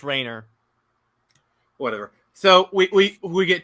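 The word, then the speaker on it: Rayner: a mention of Kyle Rainier yes in Justice League it's pronounced Rainer whatever so we we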